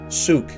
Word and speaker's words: Sooke: uh in the chosen this is uh often pronounced suk suk it is actually suk souk kind of as spelled i guess souk so